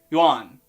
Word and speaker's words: yuan: fix this quickly so how about trying to say yuan really really fast you're still making two sounds instead of one but maybe it's closer maybe by the way you